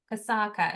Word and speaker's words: Kasaka: Okay, next person I have is Kasaka. Is that how I pronounce it?